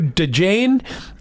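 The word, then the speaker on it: Djane: Hey, your husband wants to change the baby's name to DeJane. Anyway, so we did it. That is her name. It is D-J-A-N-E, Carmen Jane. The D is silent.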